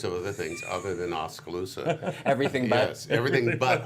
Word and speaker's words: Oskaloosa: Oskaloosa.